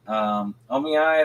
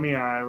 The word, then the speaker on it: Oniai: only thing that kept Omiyai, I think it is, or how do you say it, Jacob? You're the one who pronounces it all. I think you're talking about Oniai, right? Not Oniyai.